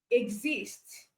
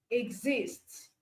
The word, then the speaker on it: exist: Um, exist, exist.